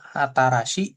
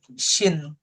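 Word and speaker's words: 新: Kanji baru baru itu berarti dibacanya ada dua. Bisa atarasi. atau kanji syin gitu ya, tergantung dia dipadankan dengan apa.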